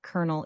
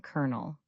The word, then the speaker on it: colonel: You're saying colonel, not colonel. Your friends will understand you perfectly. If you try to pronounce it the way it's spelled, native speakers might not even recognize the word.